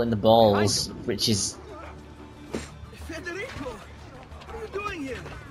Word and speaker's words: Federico: Federico, what are you doing here? Federico. Okay, so that's how you pronounce that name.